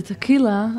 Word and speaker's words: Tehila: to pronounce my name, I normally say it's like tequila, only with the H instead of the Q.